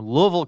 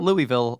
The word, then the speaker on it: Louisville: Uh, my I dated a girl whose family is in high school, family from Louisville, Kentucky. Not Louisville, Louisville. So, it's officially pronounced.